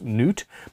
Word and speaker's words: Nut: may have come from the german nut pronounced newt meaning groove or slot i knew i'd read